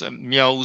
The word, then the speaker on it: Mrao: Academia, the life of Mrao Sayadaw. I'm going to pronounce as Mrao Sayadaw in Arcanist accent. Actually, in Burmese, you can pronounce Miao Sayadaw, but I prefer to pronounce Arcanist essence Mrao Sayadaw.